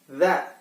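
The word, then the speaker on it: ذ: Dan sedangkan kalau seperti Da bentuknya, tapi di atasnya ada titik, maka kita bacanya Za. Lidahnya ada di tengah-tengah kedua gigi. Za.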